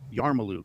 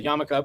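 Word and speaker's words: yarmulke: Okay, so stop saying yarmaloo. It's a Thanks for that. It's a yamaka, but but say this because it's less syllables.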